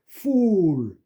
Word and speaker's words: fool: fool, fool. 이게 나중에는 fool 그거를 fool 그러면 이게 오해를 하죠.